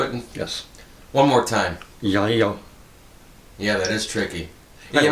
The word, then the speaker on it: Ylo: Andromedan with us, Ylo, which is a Americanization of his name, which is too hard for any of us to pronounce. Ylo. That's how you do it? Yes. One more time. Ylo.